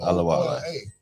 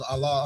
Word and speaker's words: Ola: my first name yeah is my middle name Ola yeah okay I thought it was Allah I thought you was